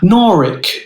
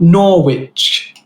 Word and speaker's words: Norwich: my maiden name but it's pronounced norik not norwich i see regina gets her